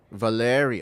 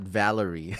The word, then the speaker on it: Valeri: Valeri. Okay, so that's how it's pronounced. Valeri. Not Valerie. The American way. Valerie. She's usually a girl's name.